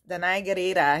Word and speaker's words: Danai Gurira: Tony nominated playwright, Danai Gurira. Is that how you pronounce Yes, Danai Gurira, yes.